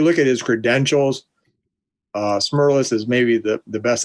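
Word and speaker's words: Smerlas: i said i i i know it's fred smirles i may have said uh i i think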